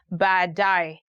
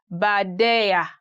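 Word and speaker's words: baadaye: two three years old he had a very hard time saying badai he used to say badaya badaya which is quite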